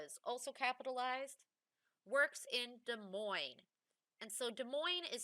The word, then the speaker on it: Des Moines: also capitalized works in des moines and so des moines is spelled weird because it's not spelled the way it's pronounced you have d-e-s and then m-o-i-n-e-s for des moines okay des moines so remember that dictation